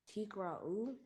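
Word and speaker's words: תִּקְרְאוּ: Yeah, we got the double Shiwa. Remember, first Shiva is silent, second Shiva is vocal. Tikra. Tikra'u.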